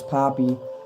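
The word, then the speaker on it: Papi: I I always pronounce it Py, but it's Poppy.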